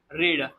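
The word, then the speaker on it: read: में कहते हैं रीड, लेकिन इसका जो थर्ड फॉर्म आता है वो भी हम स्पेलिंग सेम लिखते हैं, लेकिन उसका जो उच्चारण है वो अलग होता है। तो ही हैड रेड, हम उसे पढ़ते हैं रेड।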